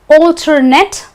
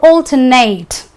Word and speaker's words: alternate: So it's alternate and alternate in case of a noun or an adjective.